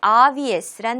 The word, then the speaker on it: obvious: 네, 우리 오늘 마지막으로 함께할 단어는 obvious란 단어가 되겠습니다. 자, 일단 발음 연습부터 함께 해볼게요. obvious, obvious, obvious. 강세가 맨 앞에 주어지고 있습니다.